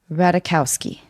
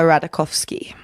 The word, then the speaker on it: Ratajkowski: my comedy okay emily ratakowski yes that was right oh thanks michael sherman told me to not pronounce the j yeah okay well then